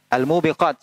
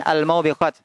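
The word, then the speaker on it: الموبقات: tujuh perkara yang membinasakan almubiqat ya bukan almaubiqat Anda pernah mendengar ada yang membacanya almaubiqat bisa jadi di kitabnya ada salah cetak sehingga membacanya almaubiqat yang benar adalah almubiqat artinya adalah almuhlikat yang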